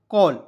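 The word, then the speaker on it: call: A double A देखिए सी का उच्चारण क के रूप में करेंगे ना ए डल एल को मैंने बताया ऊपर ऑल के रूप में उच्चारण करते हैं तो सी ए ड एल को क्या पढ़ा जाएगा कॉल सी A double L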